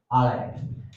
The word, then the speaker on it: allez: It's allez.